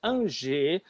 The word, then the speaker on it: Angers: Então, os condes de Blois, que eram os proprietários dessa parte central, e para o oeste, a cidade de Angers, pronuncia-se Angers, é onde estavam os duques de